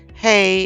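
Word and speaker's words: ה: Hey is the sixth letter. It is pronounced H, as in horse, transliterated as H.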